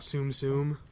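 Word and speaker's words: Tsum Tsum: Japanese pronunciation so these tsumtsum toys they're cute and you were right apparently soon comes from the Japanese word for stack here's the thing the tea is not silent the tea essence oom and any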